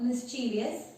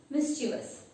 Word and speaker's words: mischievous: It is not mischievous, it is mischievous. There is no I in between V and O.